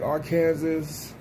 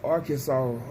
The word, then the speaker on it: Arkansas: like archaic but it's arkansas like the s is silent it's like a it's